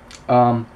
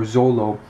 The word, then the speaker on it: Zoro: And from there, long story short, Zorro, or Zolo, you can say his name different ways, he is ravenous to fight this guy.